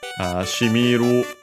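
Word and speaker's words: 染みる: Shimiru means unaccented actually, so shimiru, to soak into, to permeate, and so on.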